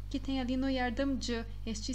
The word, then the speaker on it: yardımcı: Então, vocês vão fazer essa pronúncia bem rápida. Não é dia, é J. Yardımcı.